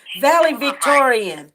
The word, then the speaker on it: valedictorian: Hi, I wanted to comment on the Taylor Williams story, and also to let you know the proper way to pronounce the word is valedictorian. Valedictorian.